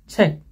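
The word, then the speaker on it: 책: Nah, contoh kosakatanya kayak cek itu artinya buku. Cek itu ciut. Nah, konsonan dasar ciut tulis dulu. Kemudian kemudian giok menjadi cek kayak gitu. Kalau sangat pelan-pelan cek gitu ya.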